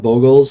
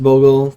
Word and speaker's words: Bogle: hex proof deck um you may also have heard this called boggles or boggles um after slippery bogel it's definitely pronounced bogle but i am also